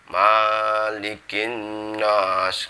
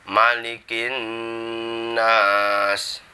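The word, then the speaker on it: مَلِكِ النَّاسِ: yang kedua manikin Nas minimnya Maliki enggak boleh dibaca malygin Nose kadang ada yang seperti itu minimnya itu pendek manikin Nash yang untuk naasnya sama Nun bertasydid harus dibaca dengung malikin Nas lanjut ke ayat yang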